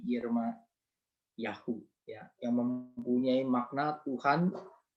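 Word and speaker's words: ירמיהו: Ini begini tulisannya, ya bacanya kira-kira begini ya, Yirmayahu, ya Yeremia ini Yirmayahu, ya yang mempunyai makna Tuhan itu tinggi dan Tuhan itu mulia.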